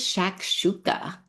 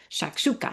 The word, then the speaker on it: shakshuka: So what is shakshuka? So that is how it's pronounced. It's just fun to say to me, right? Can you not say that a hundred times? Shakshuka.